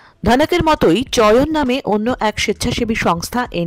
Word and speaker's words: চয়ন: চয়ন এমন একটি সংস্থা বা শুদ্ধ উচ্চারণে যেভাবে উচ্চারিত হয় চয়ন, 3 বছর ধরে কাজ করছে।